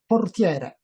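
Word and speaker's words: portiere: has this goalkeeper here how do you say goalkeeper in Italian portier portier he has this goalkeeper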